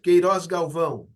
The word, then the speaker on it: Queiroz Galvão: ley de concesión de Tumarín, se llamaba la Queiroz Galbao. Era la empresa beneficiaria Está de bien, la... Queiroz Galvão. Sí, está bueno, bien. lo pronuncio como lo pronunciamos No, no, en...